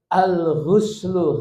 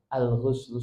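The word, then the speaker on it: الغُسل: Jadi bacanya Bapak-bapak, Ibu-ibu, alguslu ginnya pakai domah. Alghuslu sebab ada alghaslu niki mboten alghuslu.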